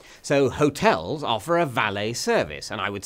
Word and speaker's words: valet: getting it valed but it's a French word and is pronounced by them valet so hotels offer a valet service and I would